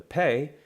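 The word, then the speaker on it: פ: true with the pay the pay if it has a dots is pronounced as a hard P P if it does not have a dot however it's pronounced as the letter f as in okay so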